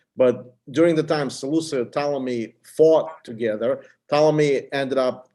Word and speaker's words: Ptolemy: this is this is Ptolemy I mean the p is silent this is Ptolemy Yeah Yeah so basically